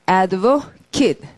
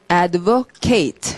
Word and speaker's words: advocate: 다음에 자 옆으로 가시고 자 발음은 advocate 자 너무 일반적인 단어인데 분명히 확인해야 될 건 AT 스펠링을 명사일 때는 뭐라고 했고 advocate 동사일 때는 advocate 해서 금방 다른 구분이 되도록 advocate 이렇게 구분 잘하는 거 꼭 확인하시고 명사 동사